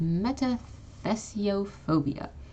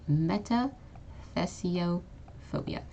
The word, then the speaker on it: metathesiophobia: one fear of changes this is metathesiophobia okay meta theso phobia and notice how each